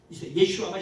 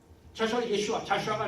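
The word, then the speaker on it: ישוע: 예슈아가 히브리어예요. 예슈아 그거 좀 말씀드릴게요. 조금 자시와. 자슈아가 아니에요. 그건 영어 발음이에요. 영어 그 오역 발음이고 예슈아예요.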